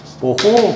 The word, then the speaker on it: 모호: 그러면 컨덕턴스는 반대로 돼 있기 때문에 이렇게 읽으라고 말했어. 예? 그러면 이때 여기에 단위는 뭐가 된다? 뭐라고 읽어야 한다? 모호 그래야 돼. 모호.